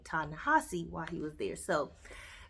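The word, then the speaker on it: Ta-Nehisi: So I always pronounce his name Tanahesi. And then I looked it up and saw a couple interviews and they pronounced his name Tanahasi while he was there.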